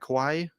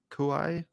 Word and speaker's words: Kauai: it sounds like a beautiful place am I pronounce that correct Kawaii Kauai Kauai in Hawaii right Hawaii yeah anyway I'm